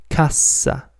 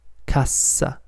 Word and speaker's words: cassa: If you double the consonant, cassa, cassa, it becomes crate or till.